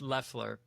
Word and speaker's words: Loeffler: Is it Laughafler? Yeah, it's Leler.